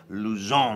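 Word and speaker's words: Luzón: It's L-U-Z-O, accent grave. That's the one that's the ski slope going down left to right. Luzon, that's just an accent on there. So it's Bodegas Luzon, and it's from Jumilla.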